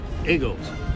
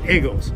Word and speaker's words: Eagles: called The Eagles I like eagles too no igles everybody all over the world knows that Philadelphia loves the I'm going to say it the igles we used to be mocked they can't even pronounce the name of the well come to Philadelphia and learn the Phil Philadelphia ACC I think that in Philadelphia they get to choose how it's pronounced right it's it's their